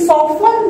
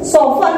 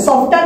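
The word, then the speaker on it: soften: इंप्ला the word please सफन देर सफन इसको सफन पढ़ते है सॉफ्टन नहीं पढ़ेंगे सफन पढ़ेंगे प साइलेंट होता है सफन द कमांड मेकिंग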